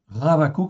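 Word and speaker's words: חבקוק: Donc je vous rappelle en fait en hébreu lorsque en fait nous avons ici un prime H, ça se prononce comme un R. Ravou. OK. Ravakou c'est le nom en fait hébreu.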